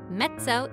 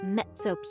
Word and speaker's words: mezzo: word mezzo means medium mezzo is spelled with two z's but the first one sounds like a t just like it does in the word pizza mezzo piano means medium soft